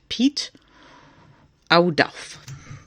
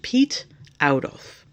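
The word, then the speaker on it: Piet Oudolf: It's pronounced Pete Audolf. I'm probably still butchering it, but that's the closest I can get. Pete Audolf and Nol Kingsbury.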